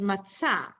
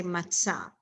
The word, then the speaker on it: matzah: memorize let's say so the correct way to pronounce is matzah so you just want to remember it that you say matzah or or you say